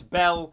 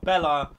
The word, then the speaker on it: Belle: It's Belle, not Bella, like the woman from Beauty and the Beast.